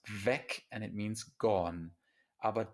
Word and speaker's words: weg: vig like a name of our series it's pronounced vec and it means gone abba das en est